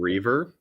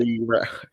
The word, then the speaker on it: Reaver: It sounds like you're saying river really weirdly, but I like it. Reaver.